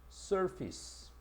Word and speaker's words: surface: 우리가 얼굴로 알고 있는 이 face라는 것이 접두어를 사용하게 되면 발음 자체를 fish로 발음을 하는데 우리가 요 앞전에 prefix라고 해서 서문을 배울 때도 이 pre란 단어를 붙이니까 fish로 바뀌었죠. 그지? 지금도 마찬가지야. surface 요거는 사물의 표면 우리가 보통 outside라고 얘기하죠.